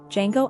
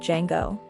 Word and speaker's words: Django: a highly rated movie django unchained yes i spelled it right the d is silent spoilers alert it is